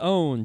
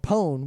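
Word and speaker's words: pwn: part of printed slang no more pun is pronounced own just as fear is pronounced fear well no pun is pronounced pun and own is pronounced own there's an alternate pronunciation of pun called pone which seems to come from New World Le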